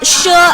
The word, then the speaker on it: She: it's home to china's shure ethnic minority group the word she might sound like she in english but in chinese in mandarin especially they are uh it should be pronounced as shu so sho is one